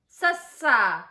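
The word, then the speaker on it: ਸੱਸਾ: Letter number 4 is sassa.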